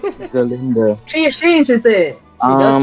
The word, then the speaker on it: Galinda: I thought you pronounce it Galinda with a G. That's right. It's Galinda with a G. Galinda.